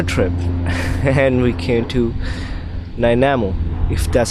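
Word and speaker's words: Nanaimo: Then I was like, we need to make another trip and we came to Namo if that's how you say it or Nimo. Naimo. Nimo is the right word.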